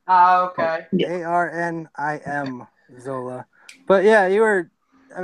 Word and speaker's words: Arnim Zola: I'm gonna say this wrong, but is it Armadzola? Can you say that again? I'm not sure how to say it. It's like Armanzola or something like that. I'll take that. It's close enough. It's Arnim Zola.